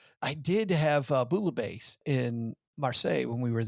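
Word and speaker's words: bouillabaisse: I did have Bulabase in Marseilles when we were there. And you said you didn't say the L's in Marseilles, but you say the L's in Bulabase. Bouabase. It's pronounced bulabase.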